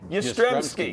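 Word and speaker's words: Jastremski: This equipment manager Mcanelli and a guy named Ystreky. Oh, I know. But the J is not pronounced, right?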